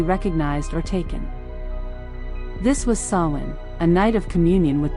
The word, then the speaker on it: Samhain: The night before, October 31st, was the festival of Samhain, pronounced Samhain.